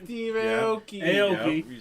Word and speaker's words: Aoki: Aoki.